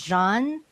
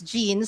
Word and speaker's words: Jeanne: Jean or sometimes uh people would mispronounce my name as Jean so it becomes a homonym search and gene.